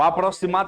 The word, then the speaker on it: aproximar: O aproximar tá com som de S, ó.